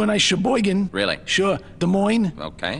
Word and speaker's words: Des Moines: Des Moines. Okay. They don't pronounce the S's.